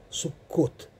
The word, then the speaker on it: Суккот: Вот слово Сакхов на иврите звучит как Суккот.